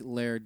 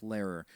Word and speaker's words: Laird: I think Laird did great. And I'm not going to call it Lair or whatever these southern pronunciations are. It's ridiculous. It's Lairer. Because I kept watching after